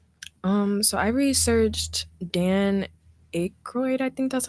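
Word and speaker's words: Aykroyd: Um, so I researched Dan Arody. I think that's how you say his name. Dan Akroyd. Akoid.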